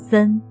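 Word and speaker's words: 森: and then derived into gloomy and so on pronouncing Sun well now you might ask how many trees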